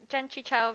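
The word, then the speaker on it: Jentry Chau: Gentry Chow? Is that how I pronounce that? Right? Yep, Genchi Chow versus the Underworld.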